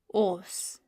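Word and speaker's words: اوس: Os. And yes, aleph is serving as a short vowel sound, so there is a pesh above aleph to create that o sound. So it's os.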